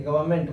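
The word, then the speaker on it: government: Indian गवर्नमेंट, इसको देखिए गवर्नमेंट पढ़ेंगे, आर को स्लाइटली साइलेंट करेंगे।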